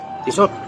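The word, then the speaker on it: Tissot: Tisot. Tiso ng tisot. Ay ang tamang pronunciation ng tisot.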